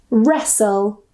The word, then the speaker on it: wrestle: The next rule is when we have the spelling S-T-L-E, soul, soul. So we don't pronounce the T. Usually, we don't pronounce the T. For example, nestle, thistle, castle, or castle, wrestle.